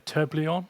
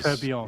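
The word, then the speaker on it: tourbillon: They did a Toto Wolf limited edition which is am I going to pronounce this right? A Turblon. Is that right? Turbion I think is Turbion.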